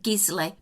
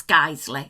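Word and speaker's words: Guiseley: shop it has gisley Americans you may pronounced it gizzly but it's GLE I assure you well I lived there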